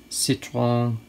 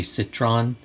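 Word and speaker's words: Citroën: this uh airfix um sichuan uh 2cv dolly and rather than try to pronounce that correctly every time i'm just going to say citron it's the way my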